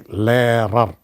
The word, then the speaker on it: Lehrer: For example, Lehrer. There it comes in the middle, but it is never pronounced. It is simply Lehrer.